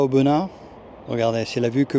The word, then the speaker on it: Aubenas: retour en Ardèche à auena attention de bien prononcer Auen et pas auenas pas de s à la fin on ne prononce pas le S c'est jour de marché